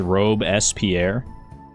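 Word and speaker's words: Robespierre: Okay, I found this on the web for how do you pronounce ro how do you correctly pronounce it? We're learning chat. It's Robe Espierre.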